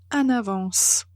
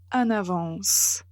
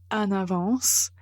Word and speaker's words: en avance: une voyelle a avance il ne faut pas prononcer de façon nasale en mais en fait il faut connecter avec avance et comme ça vous